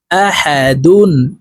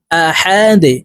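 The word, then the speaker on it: أحد: ডাল দুই পেশ দুন আহা দুন ডালকে ওয়াকফুর ক্ষেত্রে সাকিন করে ফেলবো তো এখানে আমরা এইভাবে থামবো দেখুন আহাদে ডাল যেহেতু কলকলার হরফ নিচের দিকে ধাবিত করে ধাক্কা দিয়ে উচ্চারণ করব আহাদে আপনারা আমার সঙ্গে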